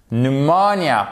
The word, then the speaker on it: pneumonia: Pneumonia.